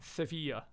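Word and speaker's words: Sevilla: recommend in Spain is sevil or seia I believe as the locals would pronounce it great town really good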